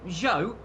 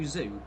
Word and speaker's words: Zhou: And do you remember, it is Zhou, not as a lot of people unfortunately call him, which is a little bit awkward. He's calling him Guan Yu Zhu, which Yeah. is just a little bit unfortunate.